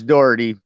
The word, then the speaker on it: Daugherty: It's Daugherty, pronounced with an Daugherty, O.